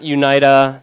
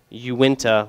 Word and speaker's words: Uinta: so you went to not UNITA not you need a not winked uh my dad calls it that still um funny story he he still doesn't know how to pronounce it so I was sitting there drinking with him he's like hey you got any of those winged two beers like no dad no its you winta like are you inta